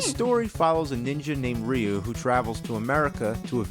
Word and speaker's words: Ryu: like in Street Fighter we didn't know rayu was actually Ryu Blanca some people wait